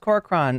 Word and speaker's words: Corcoran: Sorry, it's pronounced Corcoran. I'm sorry. I'm adding a syllable to your name.